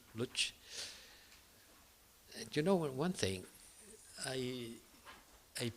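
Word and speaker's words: Łódź: Coming from Lodz, I pronounce Lodz.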